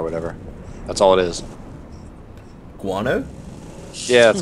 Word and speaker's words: guano: and uh the hell else is it uh Grana or whatever that's all it is guano yeah that's how you say it good [